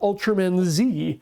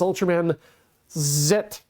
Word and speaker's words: Ultraman Z: that people understand that this is not the american pronunciation it's not ultraman z it is ultraman zet but it's a miss